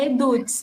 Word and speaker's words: Eduts: Você criou a eduts? É assim que fala, Eduts. É eduts, isso, assim que a gente pronuncia, né?